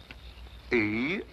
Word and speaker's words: Eros: A slight confusion on the lady's part. Probably the influence of Cockney stagehands. She added an H where there shouldn't have been one. What? Then spell it as she spelled it, but without the H.